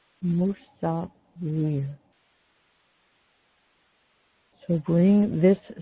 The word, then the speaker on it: Musawwir: Musawwir. Musawwir.